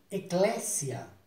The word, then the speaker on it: Eclesia: com o tempo e clécia era um grego original se pronuncia assim mesmo com s com som de s ao contrário do que muitos dos brasileiros fazem vai camisia o eclésia